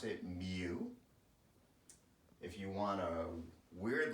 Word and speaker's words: mu: that dude's Greek and he pronounced it Mac like almost like em eh does that matter for your purpose no because statisticians pronounce that mu no clue why someone